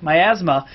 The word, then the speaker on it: miasma: Uh I think I pronounced that right. Myasma. Myasma.